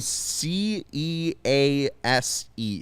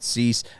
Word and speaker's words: Cease: the detroit tigers versus dylan cease is that right cease is that how you say it dylan c e a s e cease never heard of him